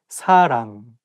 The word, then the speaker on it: 사랑: The same thing, like you have to say 사랑 with a softer S, not 사랑. And make sure that you pronounce 응 sound correctly. 사랑, not 사랑, 사람, or something else.